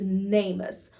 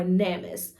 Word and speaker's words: NamUs: us as well is namus or namis uh people pronounced in different ways it's n-a-m-u-s and that stands for the national missing and unidentified persons I will list their website as well so on namis or namis however you choose to pronounce it um they will also